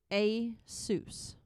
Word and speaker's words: ASUS: The company claims the correct way to say its name is ASUS.